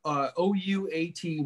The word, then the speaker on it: OUAT: What media? They were around forever. And they still are. It's part of Channel Zero. So check out OUAT Media, what it's pronounced, and they're a specialist